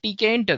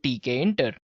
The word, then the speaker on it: Tkinter: QT we have WX Python and we have TK enter guys yes it's spelled as TK enter right so it's t